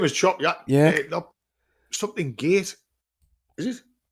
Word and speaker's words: Chop Gate: Chopgate. No. Chop Yacht. We call it Chop Yacht, people. The locals call it Chop Yacht, but the name of the village is actually Chop Gate.